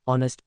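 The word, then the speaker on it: honest: women answer an explanation ऑनेस्ट begins we the silent H सो it starts we a vowel sound O requiring N identify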